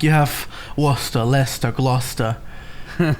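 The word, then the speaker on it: Leicester: way out there like I didn't know like how British things were pronounced so it's like I thought like Lester was like liester for the longest time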